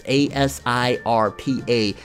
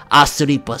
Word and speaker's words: Asirpa: It's Asirpa. The way they pronounce it in Japanese is Asiripa, something like that.